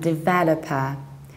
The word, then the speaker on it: developer: to stress that verbal so it's developed and developer you firstly have to do then you stress